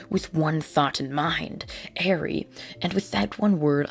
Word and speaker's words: Eri: how i pronounce it just because it looks like eerie but it's actually airy it's strange but i'll